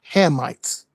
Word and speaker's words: Hamites: The correct way to say it is the correct way to say it is Hamites.